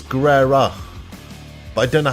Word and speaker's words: Guerrero: It's not Guerrero, it's Guerrera.